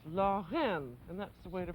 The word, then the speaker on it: Lorraine: And it's pronounced in the French manner as though you were saying law, and then clear your throat, and then say the letter N. So it's Lorraine, and that's the way to pronounce it.